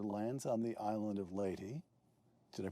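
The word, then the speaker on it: Leyte: On October 20th, 1944, General MacArthur lands on the island of Laty. Did I pronounce that correctly? Laty.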